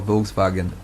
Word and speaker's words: Volkswagen: We're talking to friends from, they say it's Volkswagen, even though it's VW, it's pronounced with a V, but it's more Volkswagen.